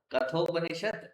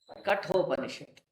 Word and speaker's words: Kathopanishad: So it is not Kathopanishad. It is Kathopanishad.